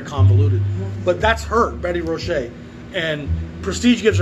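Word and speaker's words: Roché: Number 7187 is the great Betty Rochet. I'm told that's how it's said, Betty Rochet. I've also thought it was Betty Roche, but it sounds like it's French, Cajun perhaps, Betty Rochet.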